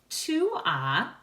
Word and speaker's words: tu as: Tu as ends in an S. You do not pronounce the S.